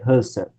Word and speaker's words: Husserl: E um cara chamado Edmund Husserl, vamos pronunciar corretamente, porque a pessoa confunde com Bertrand Russell, Edmund Husserl, vai criar uma ciência